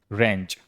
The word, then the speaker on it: wrench: अगला है रेंच, रेंच का मतलब होता है झटका।